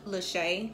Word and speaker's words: Lachey: It is pronounced Lachey. I know it may look different, but it's not that.